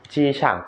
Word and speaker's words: 机场: เฟยจี เฟยจี เฟยจี หรือเเปลว่า เครื่องบินนะครับ ส่วนคำว่าฉ่าง ศัพท์เกี่ยวกับลานกว้าง นะครับ จีฉ่าง มี 2ประเภท กั๋วจี้ จีฉ่าง กับ กั๋วเน่ยจีฉ่าง กั๋วจี้ จีฉ่าง